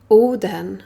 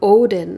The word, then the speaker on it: Odin: In today's reading, Oden, or Odin as you would pronounce it in English, has some work for you to attend to.